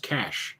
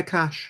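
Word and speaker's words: cache: In English, UK English and American English, that is pronounced cash, I believe. C-A-C-H-E? Yeah, cash, yeah. Yeah, we say cash.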